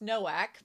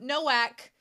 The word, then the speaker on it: Nowak: 135 Do for episode 3 says, I know you already realized it's Nowak, but let me explain the spelling. It's spelled like Novak, but our W sounds like your V, and your W sounds